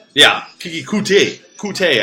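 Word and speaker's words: Coutee: It's just Corey Davis versus Kiki Cooter. Yeah, Kiki Kute. Kute, I think, is how he likes to pronounce it.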